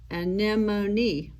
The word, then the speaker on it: anemone: fish and then the word anemone is spelled a n e m o n e and nemoni so there is the